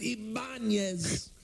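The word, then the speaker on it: Ibañez: Ibanez. Yes. I love Raul Ibanez. They pronounce it Ibanez.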